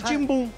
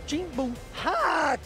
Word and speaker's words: Timbum: Que o nome era, pronunciava-se Timbum. Então, Timbum.